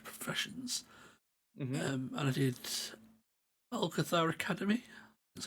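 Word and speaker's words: Algeth'ar Academy: and I did Alcathar Academy.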